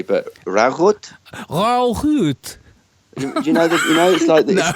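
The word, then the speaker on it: Ruigoord: Roygord or something. Yes, we're just pronouncing it very wrong, I believe. But but it's pronounced Rauhut.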